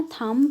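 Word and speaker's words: thumb: जैसे कि थम है ना, थम, देखो बी एम बी आ रहा है ना, इसको हम थम नहीं पढ़ते हैं, इसको हम थम पढ़ते हैं।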